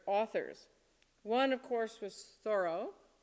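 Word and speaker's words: Thoreau: one of course was thorough I'm pronouncing it properly after 50 years of mispronouncing it the thorough society says it's to be pronounced thorough um his he writes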